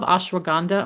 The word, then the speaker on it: ashwagandha: Like I love ashwagandha.